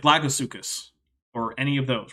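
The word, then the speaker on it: suchus: Greek term for crocodile in Greek derived words C should be pronounced you don't have to aspirate it if that's not your thing I'm not going to be that picky but do not put CH in there that is an ative sound that does not belong in those words if you're not sure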